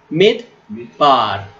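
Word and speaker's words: מדבר: So the pronunciation is mid, mid, mid, bar, mid, bar. Okay. On this case, sheva is silent sheva, which is no vowel sound.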